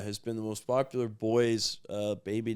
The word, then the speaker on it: Beau: We're I think we're going to go with Bo. B A Bo Holden. Bo Holden. Spell it. B E A U. Like beautiful. Yeah. Yeah. Like Bo. Yeah. Yeah. Like Bo. Exactly. Like Bo.